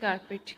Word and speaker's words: carpet: एंड कारपेट is pronounced with the stress on the first syllables.